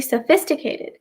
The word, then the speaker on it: sophisticated: pronounce করতে চেষ্টা করেন, then it's sophisticated or sophisticated, but it's actually sophisticated. P এবং H টা একসাথে make an F sound.